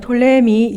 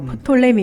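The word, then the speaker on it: Ptolemy: 자, 여기 보면은 이제는 톨레미 2세로 내려가는 거죠. 예, 이 도표를 보면서 하는 게 좋을 것 예, 같은데 예. 이게 톨레미라 그러기도 하고 프톨레미 이렇게 얘기하는데 영어식 발음이 P를 묵음으로 보니까 톨레미라고 이야기하죠.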